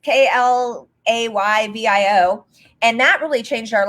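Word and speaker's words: Klaviyo: So first of all, honestly, I don't know if it's pronounced Clavio or Clavio, because people say it differently, but it's Klayvio.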